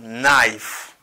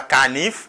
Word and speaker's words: knife: Mot ça a prononcé comme knife. Répétez après knife. Besoin un couteau, I need a knife. OK, knife. Ni pas canif, pas dit canif encore, c'est knife.